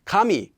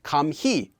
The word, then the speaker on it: 감히: as ure not or kami is pronounced like kami not kam he and chana is pronounced